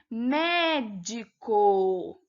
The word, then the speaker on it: médico: Médico, né? A sílaba tônica é o mé, então ela é uma proparoxítona e não uma oxítona, então era uma questão falsa, certo, pessoal?